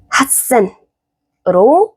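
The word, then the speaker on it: 八千: 그래서 얘는 핫센으로 바꿔 줍니다. 핫센 같이센 핫센이 편한 거예요.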